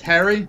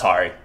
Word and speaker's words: Hari: Just Harry? That's Hari, but yeah. It's Hari.